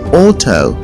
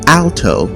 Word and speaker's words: alto: lower than the soprano is not pronounced Auto rather it is pronounced Alto let's take a look